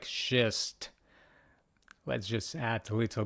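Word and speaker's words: шесть: Sounds similar to the first part of the phrase. She's to come at 6. Let's just imagine the situation. She's to come at six. Like shist, right? Sounds like shist.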